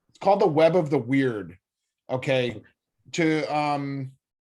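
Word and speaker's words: wyrd: looks like a web of the weird it's spelled w y r d okay so every interaction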